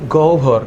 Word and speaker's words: গহ্বর: উচ্চারণ কি? গহ্বর। অনেকে এটাকে কোষ গহ্বর বলে, কিন্তু অ্যাকচুয়ালি বাংলা এটা উচ্চারণ হচ্ছে কোষ গহ্বর। তাহলে আমি যদি বলি এইটার নাম কি? কোষ গহ্বর, তোমরা আবার হাসাহাসি করে না, উচ্চারণটা গহ্বরই হবে।